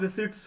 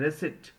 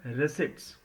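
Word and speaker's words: receipts: तरह से जुलाई gross रिसिप्ट्स वर एक बात ध्यान दीजिएगा कुछ लोग इसे रिसिप्ट्स पढ़ते हैं रिसिप्ट्स नहीं पढ़ना है रेसिट तो इसका सही उच्चारण है रिसिटस जुलाई ग्रॉस रिसेट्स वर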